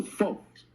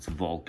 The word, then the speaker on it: Volk: Because I know the folks. That separates me. Bill, it's you pronouncing it with an F. It's Volk. It's with a V.